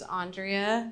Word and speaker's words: Andrea: My name's Andrea. You can say it like five ways, but it's actually Andrea.